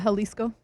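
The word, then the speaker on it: Jalisco: That is what how do you pronounce it? Halisco. Kind of. Halisco.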